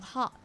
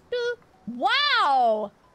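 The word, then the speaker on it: は: me when I N the W particle is pronounced as W instead of ha and is used as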